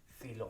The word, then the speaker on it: coelom: सीलोम, COELOM, the pronunciation is like सीलोम, okay.